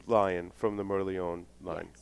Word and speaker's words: Merlion: Merlion, Yeah, Merlion. potato. Yeah. Okay. Gotcha. That I'm glad line- you're relaxed about pronunciation because we suck at it.